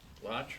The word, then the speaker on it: Laatsch: Laatsch rhymes with crotch.